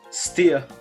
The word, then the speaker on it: Stea: important for the quiz how do we pronounce your name steer steer right because i'm really bad